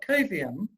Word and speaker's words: Coviam: Well, you're the co-founder and president of Coviam, which That's also right.